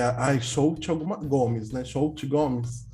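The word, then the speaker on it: Xochitl Gomez: Shout Gomes. Que assim se pronuncia o nome dela. Shout Gomes.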